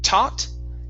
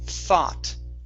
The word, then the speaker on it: thought: is the word thought right here instead of taut okay give me a th thought god all right very